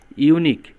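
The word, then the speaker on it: unique: ইউনিক, your উচ্চারণ যখন your মতো হবে তখন তার আগে এন না বসে এ বসবে, তাহলে এটার আনসার হবে this is এ ইউনিক case.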